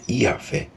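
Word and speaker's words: Yahweh: horeb Êxodo 3:1 O tagr Sagrado que na pronúncia original era yahvé é formado por quatro consoantes e significa eu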